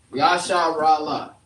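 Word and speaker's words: ישראל: Yasharala. That's how you say Israel in the Hebrew.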